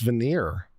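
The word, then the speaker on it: voir dire: and did you talk I've never heard it pronounced that way vanir I've always had it I've heard it always pronounced veneer VY is that some alternative pronunciation I've been missing all my life okay and Mr Waters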